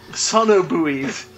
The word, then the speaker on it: sonobuoy: Sonobuoys. So these sonobuoys. It's just the same number of syllables as sonar buoy.